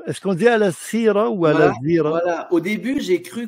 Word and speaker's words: Alasira: est-ce qu'on dit Al-Asira ou Al-Azira? Voilà. Au début, j'ai cru qu'on disait Al-Asira, et ensuite, on m'a dit ça s'écrit comme avec un I, mais ça se prononce avec un Z.